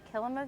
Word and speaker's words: Kilima: Yeah, it is called Kilima Village. So the root word is similar to Kilimanjaro. It kind of just helps you pronounce it there.